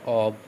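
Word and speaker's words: of: যেমন কি হবে দেখো, ইন ফ্রন্ট অফ, এটা তো অফ নয়, এটা উচ্চারণ কী হবে? এটা উচ্চারণ হচ্ছে অব, ঠিক আছে?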